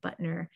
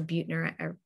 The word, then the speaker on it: Buettner: the blue zones by dan buttner or buettner buttner i think that's how you say it and he writes